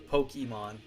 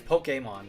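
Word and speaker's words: Pokémon: hate when people say Pokemon I mean it's Pokemon right like the actual pronunciation like poke like poke like fish poke because of the E it's Pokemon like an a sound like like your Canadian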